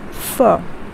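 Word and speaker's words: phở: it's spiced with flavors and herbs so it's pronounced as fur okay remember it's pronounced as fur so try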